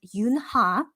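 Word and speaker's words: 윤하: by korean singer named yoon ha or in korean just pronounced yunna but um it's it's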